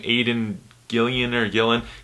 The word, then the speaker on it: Aidan Gillen: How do you pronounce his name? Aidan Gillen.